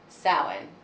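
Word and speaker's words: Samhain: it's called sin oh it's spelled totally differently but there was a pronunciation guide sin so the Romans come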